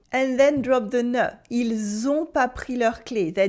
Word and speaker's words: ils ont: For now, just notice how the S at the end of il sounds like a Z sound at the end of it.